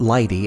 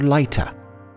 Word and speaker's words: Leite: His last name is Lie-tah, the maiden name of my grandmother. I came to learn it's not Lie-tah as we pronounce it in America, but rather Lie-tah.